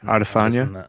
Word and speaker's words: Adesanya: Adesanya.